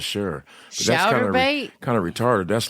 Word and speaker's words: Chaturbate: Now listen, it's spelled CHATURBATE. And he does role play sex, but never looks at child pornography. I'm going to look that up real quick. Okay, so it's like chatterbait, kind of like masturbate, but what